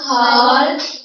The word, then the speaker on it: half: About half an hour. Half an hour. L is silent and the hour H is silent.